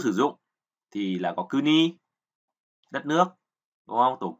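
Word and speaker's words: 国: À, âm cưng là kuni. Nghĩa tiếng Anh của chữ quốc thì là country. Và ví dụ sử dụng thì là có kuni, đất nước, đúng không?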